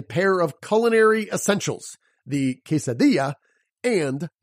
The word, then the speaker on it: quesadilla: of pronunciation is that when you see two L's together it makes the Y sound you already know this with a pair of culinary Essentials the quesadilla and Pollo the humor